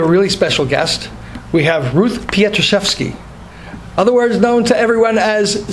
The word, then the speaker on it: Ruth Pietruszewski: We have Ruth Pietruszewski, otherwise known to everyone as Ski. Did I pronounce that right, Ruth?